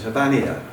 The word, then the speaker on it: Habbaniya: The the Arabic pronun pronunciation is Habania. Habania.